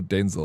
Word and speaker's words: Denzel: Have you seen the Denzel Washington trolling that one TV host when he's like, "How do you pronounce it? Is it Denzel or Denzel?" And he's like, "No, it's Denzel."